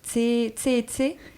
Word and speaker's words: Tsé & Tsé: 50 fois, est-ce qu'on est bien d'accord qu'on prononce Tse et Tse ?